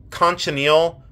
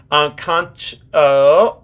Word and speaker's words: cochineal: I believe it's called cochineal. I see, here I go again, mispronouncing a word. Cochineal. Cochineal shell.